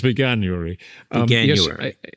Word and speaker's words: Veganuary: you pronounce this word so it's veary Beary like like January Beary so yes it was